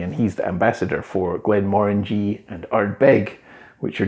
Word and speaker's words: Glenmorangie: that's pretty close is glenn moringe so have you ever seen this distillery it's not glenn murangy or anything like that just think more orangey because it is more